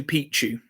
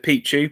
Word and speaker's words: Picchu: ancient city of Machu Picchu? Although a friend of mine informed me that the locals say it's Picchu instead of Pichu, because the Pichu means the male appendage in the local language.